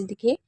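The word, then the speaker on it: though: एक तो आप इसे औ पढ़ सकते हैं और दूसरा आप इसे ओ पढ़ सकते हैं। जी एच इसमें साइलेंट रहता है। लेकिन आपको याद रखना है कि ओ जी एच को या तो आऊ या ओ पढ़ना है। जैसे बाऊ हो गया, प्लाऊ हो गया, दो हो गया या डो हो गया।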